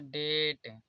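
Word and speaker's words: debt: जैसे टी से पहले यहाँ पर बी है तो ये डेट, यहाँ पर बी साइलेंट है।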